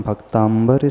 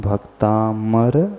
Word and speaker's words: भक्तामर: उसे ही सुधार लें कि इस स्तोत्र का नाम भक्तांबर स्तोत्र नहीं है स्तोत्र का नाम भक्तामर स्तोत्र है इन दो शब्दों को